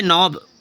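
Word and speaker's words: know: यहां साइलेंट हो गया जैसे नो के एन ओ डब्लू नो नो means क्या होता है जानना होता है के साइलेंट है जैसे नी के एन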